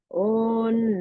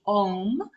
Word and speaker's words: Om: written out, we'd see Om Namah Shivaya. Om being the Om we're used to, OM. Your pronunciation was clearly on, more of an N at the sound at the end, and I know there's a reason for that.